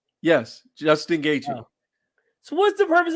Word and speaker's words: Gaethje: Gaethje? Actually, the T and the H are silent. So Gaethje? Yes, Justin Gaethje.